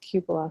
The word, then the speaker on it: cupola: It's called That's what you call it, a cupola. cupola. And this is according to, I believe it's, I was watching This Old House and he said, oh, it's actually pronounced cupola.